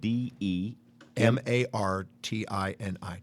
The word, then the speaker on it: DeMartini: And DeMartini is spelled D-E. M-A-R-T-I-N-I, DeMartini. Kind of like the drink.